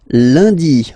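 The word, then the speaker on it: lundi: And in France, uh, the week starts with Lundy. Monday, Lundy. Okay, remember N is pronounced like Liy Lundy. Lundy then mi.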